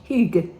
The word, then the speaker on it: hygge: Oh, and Karin Borenius, who lives in Sweden, said she thought my pronunciation was okay. Hygge.